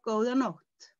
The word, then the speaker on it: góða nótt: It's always good day, góðan dag, good day, góðan dag, góðan dag, góða nótt.